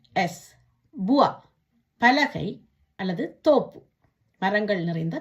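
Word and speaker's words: bois: இந்த உவா என்ற சத்தத்தை எப்படி உச்சரிக்கணும்னு பார்ப்போமா? பே ஓ இ எஸ், புவா, பலகை அல்லது தோப்பு, மரங்கள் நிறைந்த தோப்பு.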